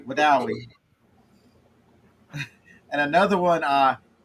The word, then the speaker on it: Wedowee: So here's one. It's spelled Wedowee. They pronounce that W-E. they pronounce it Wedowie.